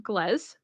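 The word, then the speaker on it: Goelz: And fun little piece of trivia, he is actually voiced by Dave Glez, who or Dave Goles. I can never say his name right. I think it's Goles, Dave Goles, which is really sad because he does genuinely really, really inspire me.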